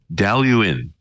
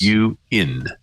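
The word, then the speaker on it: Dailuaine: And this particular one is Daluin. Now, there's a lot more letters in the name than this, which you actually pronounce. Like the I disappears. Like Worcester, Massachusetts. Daluin. The Daluin 16.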